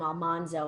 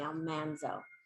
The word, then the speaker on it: Almanzo: about laura and her husband almanzo which is the correct pronunciation we called him almanzo on our show but it's actually almanzo and um and their